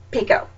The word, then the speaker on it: Picoult: about how it was pronounced like anytime we mispronounced it she was like pico it was so kind of cute cuz I